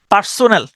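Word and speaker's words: personnel: ঠিক আছে এরপরে আসেন পারসোনাল পারসোনাল মানে হল আপনার কর্মচারী পারসনেল পারসনেল এভাবে উচ্চারণ করতে পারেন পারসনল পারসনেল পারসনেল মানে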